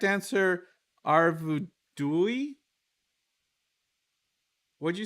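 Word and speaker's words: Arvedui: i did so uh is the correct answer arvudui what'd you say how do you say his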